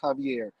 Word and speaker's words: Javier: It's with a J, but I believe it's pronounced Javier.